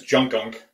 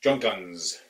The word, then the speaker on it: Junkunc: in Hungary the surname for what we were pronouncing as junk ankh the surname was spelled je u NK u in C Z + cz in Hungarian is pronounced like the S and it's so Junkins junk guns that's how it would be pronounced or typically